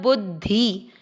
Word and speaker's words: बुद्धि: की मात्रा धि बुद्धि कुछ लोग इसको बुद्धि पढ़ते हैं देखिए द और ध का उच्चारण ध्यान रखना है बुद्धि ठीक है फिर यो दीर्घ करना